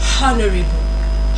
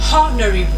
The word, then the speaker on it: honorary: You don't say honorary. Honorary. Like the ha sound there is is silent. It's silent.